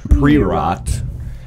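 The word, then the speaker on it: Priorat: black slate and it's from a region called preot it's spelled p r o no p r i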